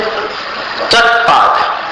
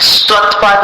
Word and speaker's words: त्वत्पाद: फिर चौथी पंक्ति में त्वत्पाद, स्वत्पाद नहीं, त्वत्पाद पंकज बना शैनो लभन्ते, ऐसा इसका उच्चारण होगा।